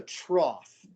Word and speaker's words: trough: those strange words that ends with gh but you pronounce it like f just like laugh and this is a trough and i think it's